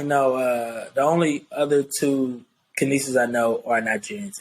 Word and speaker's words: Canice: So yes, Canice. I know it look weird, but it's spelled like can ice.